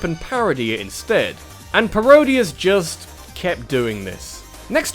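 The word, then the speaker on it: Parodius: There's a reason why it rhymes with Gradius. It's even made by the same company. Barodius basically changes the palettes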